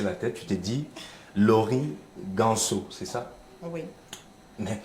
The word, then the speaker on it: Laury: Mais il faut dire que le Laurie, là-bas, vous allez voir que c'est le Y. Juste Exactement. parce que le E, aux Exact. États-Unis, se prononce comme le I.